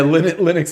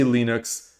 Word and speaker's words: Linux: Yeah, Linux is not Unix. Linux is not Unix.